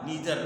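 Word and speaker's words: neither: Pronunciation आपका ठीक नहीं, ये दो तरह से बोला जाता है। अमेरिका में इसको बोला जाता है ईदर आर नीदर नार। तो ये दो टाइप ऑफ प्रोनाउंसिएशन हुए, और ये ब्रिटिश है, आइदर आर नाइदर नार, ये ब्रिटिश है, और अमेरिका में उसको नीदर नॉर और ईदर आर के नाम से जानते हैं।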